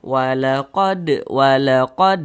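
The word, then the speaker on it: ولقد: Huruf-huruf qalqalah itu kalau hurufnya sukun, kalau hurufnya mati, pantulkan bacanya. Ini huruf dal. Nah, dia sukun, ini tanda sukun atau tanda mati, pantulkan. Walaqad. Nah, mantul seperti itu.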